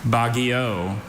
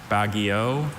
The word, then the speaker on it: baguio: Bagio or Bagio?